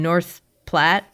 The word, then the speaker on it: North Platte: You grew up in rural Nebraska in North Platte.